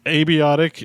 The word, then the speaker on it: abiotic: So abiotic is how I pronounce it because it's like a bee's dick, abiotic.